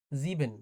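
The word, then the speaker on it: sieben: সিক্স ডে জেক্স কিছুটা মিল পাওয়া যায় জেক্স জিবেন এটা অনেকটা মিল পাওয়া যায় তবে ডচের উচ্চারণটা অসপখিটা অনেকটা আলাদা জিবেন এইযে এসই এ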